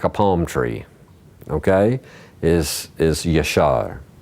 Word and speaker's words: Yashar: Yud, Shin, Resh is Yashar. Yashar.